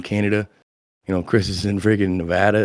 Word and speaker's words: Nevada: A lot of people say Nevada, and then the locals here hate that. So props to you for saying it right. Nevada.